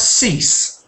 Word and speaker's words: cease: Another word with uh that's cease. Now, that's not actually a homophone because um there's a difference, isn't there? Sees has a Z sound at the end and cease has an S.